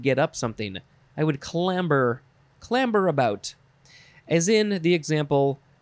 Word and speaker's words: clamber: Next is clamor or clamber, because that's how it's spelled with a B, clamber.